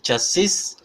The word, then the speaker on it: chassis: But in United States, it's correct to say chassis, debris, Illinois. No, they don't pronounce any S.